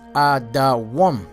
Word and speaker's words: Edom: All right, the name Edom is Adawam. That's how it's spelled, Adawam, which the name Adawam means red, like the color of Esau's skin, red.